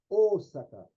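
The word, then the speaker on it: 大阪: Aí o japonês, quando lê esse símbolo, ele prolonga esse som, o, ele não faz o, faz Osaka, Osaka, né?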